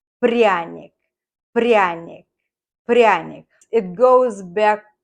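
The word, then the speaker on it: пряник: bought this to gingerbread let's learn how to pronounce this prionic prionic brionic prionics it goes back to the 18th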